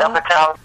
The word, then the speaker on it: Apatow: Apatow.